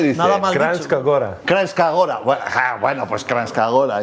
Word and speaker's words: Kranjska Gora: Kranjska Gora.